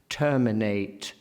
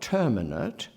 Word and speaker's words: terminate: Terminate, torment. Not terminate, as in indeterminate, but terminate, torment, which is a permissible pronunciation of that form, but holds open the vowel and an urging as terminate does not.